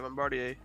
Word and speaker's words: Bombardier: Yeah, Bombardier.